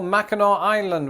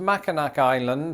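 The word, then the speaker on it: Mackinac Island: also worthy of your time like for example Mao Island which is not pronounced maak island or instead of Orlando Florida check out St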